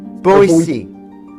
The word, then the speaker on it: Boetie: Boetie.